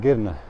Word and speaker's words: Girne: it's kirania but if i called that city kirenia here i assume it might be offending you know all these things they call it girna so i have to know how to pronounce that city name so i need guinea